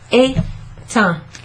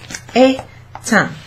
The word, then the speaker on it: éteint: So, in the past tense, the past participle of this is éteint, éteint, comme ça. Et, non, et. E, accent aigu, T-E-I-N-T. Et ça se prononce éteint.